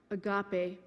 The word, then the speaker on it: agape: definition of agape love is a Greek word pronounced agape Agape Love is a love of choice not